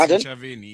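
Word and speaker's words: Ntshavheni: Minister of Presidency is a Minister Machinveni. Did I pronounce it right? Nchaveni. Did I pronounce it right? Minister in the Presidency, Chaveni, yes.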